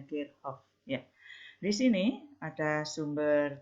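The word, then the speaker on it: Kirchhoff: dulu diselenggarakan Hukum Kirchoff aslinya dari Jerman jadi bacanya gate of ya di sini ada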